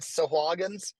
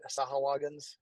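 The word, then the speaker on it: Sahuagin: um apparently I pronounced I always said sagin he says that the guy who actually created them said that way sah sahagin even I can't say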